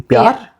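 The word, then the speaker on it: प्यार: Pyar.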